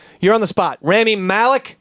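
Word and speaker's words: Rami Malek: you're on the spot remy malik i believe is how you pronounce that name yeah yeah he's gonna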